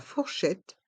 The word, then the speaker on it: fourchette: les couverts la fourchette on entend bien le T quand on prononce le mot fourchette la fourchette le couteau